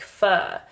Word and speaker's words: pho: we came there, like, it said that you're supposed to pronounce it as like F-U-R, which I would say fur because my pronunciation is slightly American. But if you pronounce fur in the British way, it's like pho. So we believe that the right pronunciation is pho.